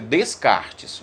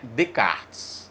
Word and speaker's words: Descartes: René Descartes se inscreve Descartes mas a pronúncia correta é de kart em que ele dizia